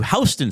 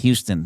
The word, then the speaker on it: Houston: If you lived on Manhattan Island, you would go to Houston Street. You wouldn't go to Houston Street and correct New Yorkers and say, well, actually, it's pronounced Houston.